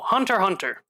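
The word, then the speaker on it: Hunter × Hunter: uh another good example hunter hunter you don't pronounce the x by the way you don't no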